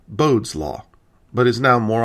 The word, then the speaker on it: Bode: In 1768, the astronomer Johann Ellert Bode, who, being German, likely pronounced his name Bode, but everyone says Bode, so I will too, incorporated the rule into